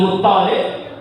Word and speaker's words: Muttalib: Bin Abdul Muttalib. Tasdidnya ada di tok, bukan di lam ya. Tasdidnya ada di tok Muttalib.